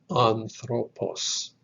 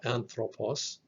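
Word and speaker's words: ἄνθρωπος: the study of man three syllables on throw and puss so when we talk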